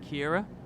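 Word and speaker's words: Ciara: Oh, it's pronounced like Kira.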